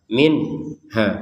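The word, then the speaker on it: منها: Kullama ruziqu minha. Ruziquya dipanjangkan dua harakat. Minhaya nun sukun bertemu ha. Kita baca dengan jelas.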